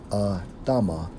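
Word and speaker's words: אדמה: the Hebrew for ground Strong's H 127 pronounced as a Tama which means ground or Earth okay and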